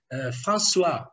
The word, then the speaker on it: François: The first time the S was silent.